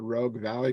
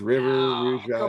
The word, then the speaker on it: Rogue Valley: And then not just that, but you also said Rogue Valley correctly. And a lot of people say Rouge River, Rouge Valley.